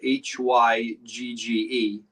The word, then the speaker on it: hygge: years um the word hygge is really spelled h-y-g-g-e and it's pronounced hygge and the reason that we spell